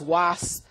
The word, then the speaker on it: UAS: means great power okay so it's uh properly pronounced it's was um but lots of people know us lots of your viewers actually will know us as uas properties okay um but back to the starting